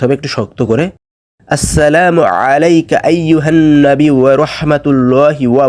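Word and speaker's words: عَلَيْكَ: এইখানে এই যে 2 নাম্বার যে ওয়ার্ডটা আছে আলাইকা, আলাইকা হচ্ছে আইন দিয়ে। আইনের উচ্চারণ গলার ভেতর থেকে করতে হবে, মুখ দিয়ে করা যাবে না।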